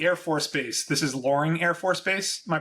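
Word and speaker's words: Loring: So, so the Air Force base, this is Luring Air Force Base. Am I pronouncing that right?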